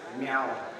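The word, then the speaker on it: miw: And you pronounce it meow.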